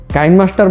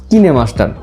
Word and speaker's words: KineMaster: আপনি যদি কাইনমাস্টার বলেন তাও ঠিক আছে, আর যদি কোরিয়ান ভাষায় আপনি উচ্চারণ করতে চান অরিজিনাল ল্যাঙ্গুয়েজে, সেই ক্ষেত্রে হবে কিনেমাস্টার।